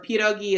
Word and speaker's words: pierogi: one, or pierogi is multiple.